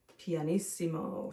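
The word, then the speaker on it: pianissimo: is soft and finally the softest of all panimo so we need two P's for that one and it's spelled p i a n eimo i SS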